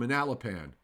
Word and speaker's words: Manalapan: it along well it wait okay is it Manalapan no no I know you don't worry about it it's from Manalapan we're all getting excited now pan scott broilers